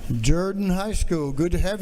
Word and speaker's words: Jordan: today to have a group of students from Jordan High School in Columbus Georgia uh you might pronounce it Jordan but in Columbus we pronounce it Jordan uh